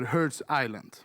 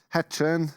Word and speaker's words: Hertsön: Men ni växte ju upp på någonting som kallas för Herds Island. Exakt. Uttalar jag det rätt? Perfekt. Nice. Vad är det för något? Hertsön, Sveriges mäktigaste bostadsområde utanför, eller liksom en del av Luleå kan man säga.